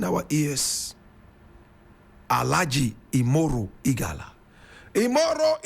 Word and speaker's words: Imoru: Alhaji IMORU EGALA. How many of us have heard about this name before? Does it ring a bell in our ears? Alhaji IMORU EGALA. IMORU is spelled I-M-O-R-U. EGALA is E-G-A-L-A.